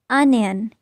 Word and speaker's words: onion: No, it's onion.